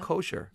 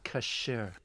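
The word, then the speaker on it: כשר: Kosher. Kosher. How do you say oh my kosher gosh, then? You've got me. No, it's actually kasher.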